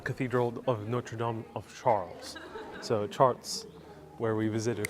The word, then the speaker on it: Chartres: Miss Lob says it's pronounced Chartres.